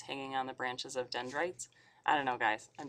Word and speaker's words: dendrites: well dendrites kind of sounds like kites um so you can think about like the branches um that come out of the Som and receive signals from other neurons and muscles this kind of rhymes with kites so we've got a